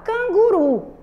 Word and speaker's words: canguru: Canguru, né? A sílaba tônica é o quê? A última. Qual é a sílaba mais forte?